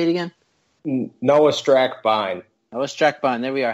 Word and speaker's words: Noah Strackbein: Noah Strackbein.